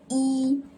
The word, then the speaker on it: 一: E means one and naturally sits at its first tone, which is E.